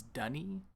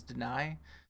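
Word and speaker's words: D'ni: pronounce that word like d apostrophe and I is dunny for some reason I didn't realize that I thought was deny until until I heard one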